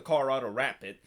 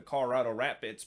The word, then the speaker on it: Colorado Rapids: of this week and i actually uh put the wrong pronunciation in terms of the rap bits there should be an s after they're not the colorado rapid they're the colorado rapids but they definitely made